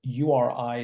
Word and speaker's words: Uri: was a particular attack in a place called URI it's pronounced as Uri in India.